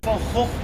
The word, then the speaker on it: van Gogh: Van Gogh Museum. Yes, we pronounce his name as Vincent van Gogh.